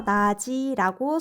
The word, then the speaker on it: 낮이: 그 경우 앞에 지읒이 바로 뒤로 이동, 뒷음절 첫소리로 발음됩니다. 그래서 나지라고 소리납니다.